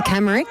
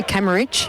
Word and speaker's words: Camrick: That is how you say his surname. Thank you very much, Birchie. Camrick, he said if you want to get really technical, you could say Camerich, but Camrick is fine.